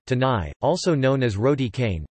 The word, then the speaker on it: canai: Roti kanai pronunciation, tanai, also known as roti